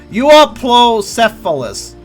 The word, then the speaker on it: Euoplocephalus: Alright, now let's see how we actually pronounce that dinosaur's name. Well-armed head. Euoplocephalus.